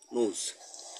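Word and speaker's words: knows: অর্থাৎ এনের পূর্বে যদি, এন বর্ণটার পূর্বে যদি কে থাকে, তাহলে ওই কের উচ্চারণ হয় না, কের উচ্চারণ সাইলেন্ট থাকে। এখানে উচ্চারণ যদিও কে আসে, কের উচ্চারণ হয় না। এখানে কী হবে, নোজ।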